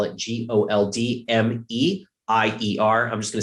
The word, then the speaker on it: Goldmeier: That is, if you want to know how to spell it, Goldmeier.